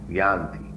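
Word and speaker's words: यान्ति: Y-A-N-T-I. Yanti. Actually the pronunciation is Yanti.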